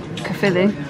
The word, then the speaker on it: Caerphilly: Caerphilly. Is that how you pronounce it?